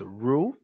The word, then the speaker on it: rule: Roo Roo Roo role so you got to start with rule then go to Rua and make sure your lips are like it's almost like you're you're kissing the air ruh rah Roo room